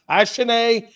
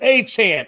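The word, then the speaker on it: Achane: Ashane? No, it's Achan.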